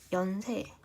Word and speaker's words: 연세: 노인, 연세는 연세, 그래 연세, 네 연세가 있죠. 한자어는 원래 로인과 연세로 발음해야 하는데 얘는 노로 발음하고 얘는 이응 연세로 발음하잖아요.